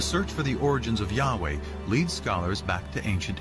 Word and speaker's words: Yahweh: these four letters which in English would be yhw H which we think were probably pronounced something like Yahweh but Yahweh only appears